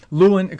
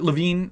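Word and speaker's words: Lewin: for some people and potentially negative for others Luen Kurt LaVine rather it's spelled Luen but it's pronounced LaVine uh Kurt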